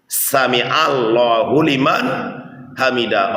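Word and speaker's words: سمع الله لمن حمده: Samiallahu liman hamidah.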